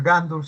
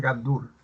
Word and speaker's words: gandul: En la primera palabra gandul, la sílaba tónica es dul porque no es gandul, sino la palabra es gandul.